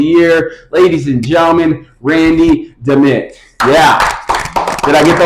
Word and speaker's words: Dimit: No, it's just Dimit. Dimit. Dimit. Dimit. Dimit. Yeah, it's like damn it, except Dimit.